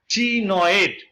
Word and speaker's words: ctenoid: CTENOID, CTENOID, টিনয়েড। সির উচ্চারণ হবে না, টিনয়েড স্কেলস এরকম একটার পর একটা পাশাপাশি লেগে থাকে।